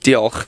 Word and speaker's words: Diolch: I know it's spelled oh, you've put me on the spot now. I can't remember. Diolch. Diolch, that's thank you.